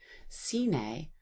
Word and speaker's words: sine: So we know it's going to end in an A sound, which is spelled by an E. Sine, pas, ione.